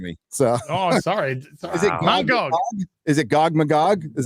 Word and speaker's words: Mangog: One of my favorite moments is Thor beating Mangog and Thanos. See that? Mangog. Or I probably misfucking pronounced it, Mauler. Don't worry, I'll do it for you. What is it? Man and then Gog.